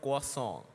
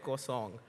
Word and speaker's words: croissant: and by the way, the actual French pronunciation of the croissant that I used to call is called croissant. It's K-W-A-N, croissant.